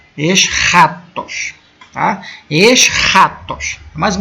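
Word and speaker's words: ἔσχατος: consegue pronunciar aí né é o som de um R meio um R meio gutural tipo o J do espanhol ex ratos ex ratos tá ex ratos mais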